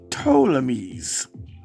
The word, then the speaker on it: Ptolemies: When the Greeks invaded Egypt, they were known as the Ptolemies. And it starts with a P and then a T, but the P is silent.